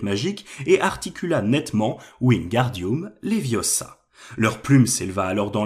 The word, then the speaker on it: Wingardium Leviosa: bien lens à hermione il faut dire wingardium leviosa en accentuant bien le gars tu n'as qu'à le